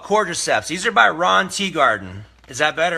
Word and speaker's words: Teagarden: Ron Teagarden. T-E-A, like T is actually as it's spelt.